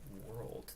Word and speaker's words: WRLD: And that's world spelled W-R-L-D, like Juice WRLD, spelled the same way except minus the juice, but wonderful.